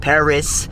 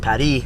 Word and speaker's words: Paris: It's not pronounced Paris, it's pronounced Paris.